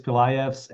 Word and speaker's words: Pilajevs: in Washington, D.C., Pilajevs. Is that right? Yeah, the J is silent, Andrew. Okay. Want to introduce yourself? Yes, absolutely. Thank you. Hello, everyone. My name is Pilayevs, and I am a